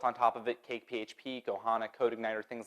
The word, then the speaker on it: PHP: It's pronounced fup. It's not. I looked it up. It's PHP.